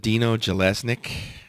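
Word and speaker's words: Jelusick: Uh, is it Dino Galileic? Yes, that is correct. Jallesnik producing.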